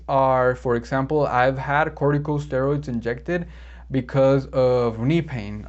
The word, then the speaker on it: corticosteroids: was news to me i always thought it was cortico este because that's how you say it but no it's corticosteroids corticosteroids so i learned something